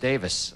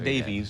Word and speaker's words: Davies: Ray Davies composition pronounced Davis that's right we learned that when he was here not Davies Davis although it's spelled Davies he pronounces it Davis early Kinks though yeah